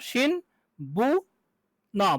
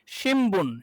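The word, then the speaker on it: 新聞: তাহলে শি ন, শিন বু ন, বুন। তাহলে নরমালি হওয়ার কথা ছিল হচ্ছে শিন বুন, কিন্তু আসলে কি হবে? উচ্চারণটা হবে শিমবুন।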